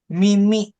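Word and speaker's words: 耳: Mimi bacanya mimi.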